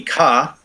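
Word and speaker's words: 毛: So some of these are giving me like kudu for ku, so spin or reel.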